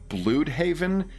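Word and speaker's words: Blüdhaven: It's pronounced blue haven in the new peacekeeper TV series for some bizarre reason, but that happens on an alternate earth. So, I'm assuming that it is a weird pronunciation of blood havenist, which is how I've heard it pronounced in every other media.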